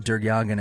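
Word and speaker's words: DerYeghiayan: Sterling um agent during again it's d-e-r-y-e-g-h-i-a-y-a-n is pronounced durgyagin as best as we can tell starts to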